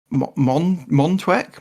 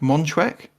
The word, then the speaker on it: Montauk: our U.S fan base but montwick Montauk Montauk Montauk all right how do you spell it emo n t a u k but Massachusetts was massively